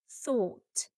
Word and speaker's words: thought: The OUGH makes a sound ought, like in court, ought, thought.